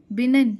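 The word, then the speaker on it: benign: तो इससे क्या है, बोनस और बिनिन और बिनिग्नेंट नेंट, ठीक है, बिनिग्नेंट, बिनिन जी साइलेंट है इसमें, तो ये हार्मफुल नहीं है जो, ठीक है, जो ठीक है।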